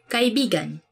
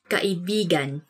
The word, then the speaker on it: kaibigan: Let me say something about this word, because you have to say it like this. Kaibigan. Kaibigan. Because kaibigan means friend. But when you twist it a bit and say it like this, kaibigan. Kaibigan. That's kind of, it's not really a natural way of saying it, but it actually means lover.